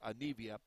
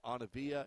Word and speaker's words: Anivia: That's how her first name is pronounced, Anivia. I'd been told that it was Anavia, and I apologize to her.